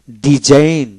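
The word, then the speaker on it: design: সাইনার সাইনিং সাইনিং তারপর ডিজাইন ডিজাইন ডি এস আই এন ডিজাইন জচ্চন হল না ডিজাইন ডিজাইন তারপরে ডিজাইন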